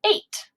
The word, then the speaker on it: eight: with all these letters so if you see e i g h it makes the sound a like eight so this one's just